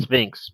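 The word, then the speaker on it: SFINCS: It's pronounced Sphinx, but it's SF, not SP.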